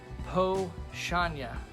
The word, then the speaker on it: Powstanie: into this uh so the po chanya hoshanya is how that's pronounced and so two brothers